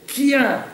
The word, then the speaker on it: kien: Picard, en langue romane, la lettre K tient la place et la fonction de C suivie d'un H. Je dis d'un H. On doit écrire et prononcer Kival pour cheval en français, Kien pour chien, Vac pour vache.